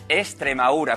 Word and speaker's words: Extremadura: Extremadura se escribe con X, ¿vale? Y con la D. Como hemos dicho antes, la D intervocálica se cae, la perdemos, no la comemos los extremeños y le ponemos una S. Entonces es Extremadura, con acento en la U.